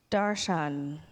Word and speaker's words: darshan: Sanskrit word with me a few weeks ago darshan am i pronouncing that correctly yes he says yes I